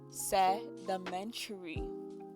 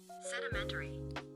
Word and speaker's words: sedimentary: Sedimentary. Oh, that's a long word. And it's pronounced sedimentary.